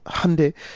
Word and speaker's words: Hyundai: It's Hyundai. Okay. Yeah, but I was mispronouncing the Chinese the whole time and I'm like, really?